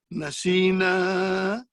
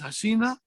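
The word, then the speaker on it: نسينا: audience and I say, did you say Hasina? Did you pronounce as Hasina? They said, no, we did not say. I said, I heard you said Hasina. Nasina.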